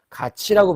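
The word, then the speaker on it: 같이: 그러니까 티읕이 모음 이를 만나면 치읒으로 발음을 하게 돼 있어요. 그래서 우리가 이 발음을 갓티라고 발음하지 않고 가치라고 발음하죠.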